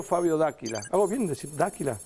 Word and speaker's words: D'Aquila: ¿Hago bien decir D'Aquila? D'Aquila sería D'Aquila. Bien italiano.